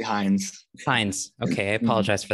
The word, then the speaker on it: Hinds: your last name correctly hins heinz it's actually heinz fines okay i apologize